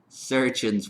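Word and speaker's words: chirurgeons: Besides the surgeon's wine. It's spelt CH from the French, so it's spelled chirurgiones. I'm going to just pronounce it surgeons though.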